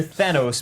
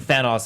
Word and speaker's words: Thanos: or lived based on how they pronounced the villains name fanos you you might hear Thanos most of the time but I could have sworn somebody said fan us a couple of times and then you saw